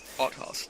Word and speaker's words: Althaus: So, Althaus? Go on, tell us how you say it. One of guy. Yeah, you were pretty close. Okay. Altas. Or...